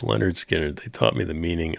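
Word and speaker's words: Lynyrd Skynyrd: Brent says Leonard Skinnard. Thanks, Brent. I appreciate that. Pronounced Leonard Skinnard. He says Leonard Skinner.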